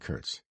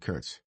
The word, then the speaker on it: Kurtz: Bernard said Curts, putting the emphasis on the second syllable. the way Gdaga had.